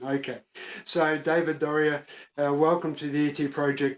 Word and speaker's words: Doerrier: right off the bat Dory ER it has a German pronunciation has a German pronunciation okay so David Doria welcome to the ET